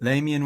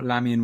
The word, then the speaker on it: Lamian: Lameian war, lamian war, tomato, tomato. You say it however way you want. I've said both um over the course of my my research into this.